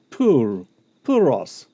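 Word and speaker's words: πῦρ: Puros, ta. Actually, you should probably roll your R's more than I do.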